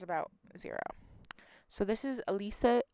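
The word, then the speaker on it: Elyssia: zero so this is élisa élisa I believe is how you pronounce her name but it is spelled e ly s si a super interesting spelling I actually really like it I believe it is pronounced Alysia Owen she's been missing since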